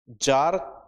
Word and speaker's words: Tsar: लिखो, इस क्रांति में जार का शासन समाप्त हुआ। It ended the rule of द, जार की स्पेलिंग TSAR, हिंदी में जार कहा जाता है, ठीक है, इंग्लिश में TSAR।